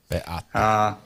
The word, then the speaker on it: Beata: Is that how you pronounce Beata's name in Polish? Czy tak się wymawia imię Beaty po polsku? Beata, a w domu mówiliśmy na nią Benia. Beata. The Polish pronunciation is Beata.